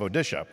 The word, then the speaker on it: Odisha: is the state of odisha not one that you normally hear about but what's the pronunciation now odisha odisha right we used to call it orisa when we were young so just to be